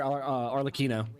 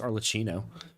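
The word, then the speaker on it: Arlecchino: recorded yesterday and today I pronounced her name arino the whole time I'm kind of surprised that nobody in the comments said anything about how her name is pronounced arcino cuz when I say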